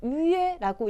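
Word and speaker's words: 约: 여러분, 위에라고 읽힌 한자예요. 위에.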